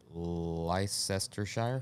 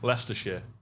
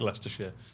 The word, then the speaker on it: Leicestershire: All the way out of Leicestershire. No, you fucked that up. Yeah, you murdered that. Well, how is it? Leicestershire.